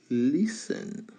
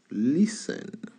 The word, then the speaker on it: listen: On ne prononce pas le T.